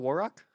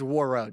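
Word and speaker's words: Warroad: Is that what's called War Rock? Did I say that correctly? Did I not say it correctly? I think it's War It's War Road. Dang it. It's War Road, Minnesota.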